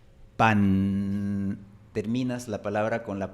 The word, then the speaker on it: pan: Por ejemplo, la palabra pan, en un acento neutro se pronuncia con la punta de la lengua en el frente. Pan.